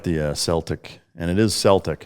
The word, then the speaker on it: Celtic: I like the Celtic, and it is Celtic. It's one of the most mispronounced words. It's Celtic. It's not Celtic, it's Celtic. It's not the Boston Celtics.